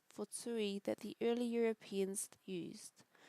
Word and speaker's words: tūī: When tui is spoken and spelt correctly in Māori, both vowels are long and it is written with macrons as tui.